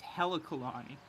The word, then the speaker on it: Halakalani: So the E and the A switch. It's Halakalani. Instead of Haluka?